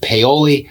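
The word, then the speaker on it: Paoli: talk about is peoli and yes it is pronounced peoli this town will be great for you if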